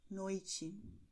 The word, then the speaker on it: noite: no caso de Tiago, noite, ok? E o som é o mesmo que você tem no italiano quando você diz tchau, ok?